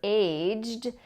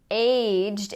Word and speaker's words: aged: first one is aged now this one is tricky because we have the past tense verb aged and the adjective AGED and aged and aged can both be used as adjectives however in this meaning